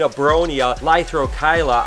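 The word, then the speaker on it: Abronia lythrochila: This is actually an Abronia lithrochyla, I believe that's how it's pronounced, but it always hides and no one ever sees it and no one ever wants to take it out.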